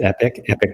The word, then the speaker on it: Epik: Epik Prime, yes.